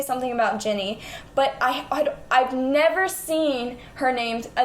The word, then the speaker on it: Ginny: So I said Guinea, because I've always just read it. I never said it out loud.